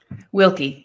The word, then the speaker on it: Wilke: Wilke, yeah.